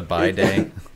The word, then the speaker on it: bidet: It's I pronounce bi as bi for, you know, because that's how every other bi is pronounced. So I just pronounce it as bidet.